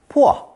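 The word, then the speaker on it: 破: Stone paired with P pronounced fourth tone pu pu P has both a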